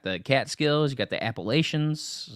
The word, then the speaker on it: Appalachian: Some people say Appalachians, but I'm from New York. We say Appalachian, right? That's the proper way to say Appalachian. But everybody else in the country says Appalachian or something like that.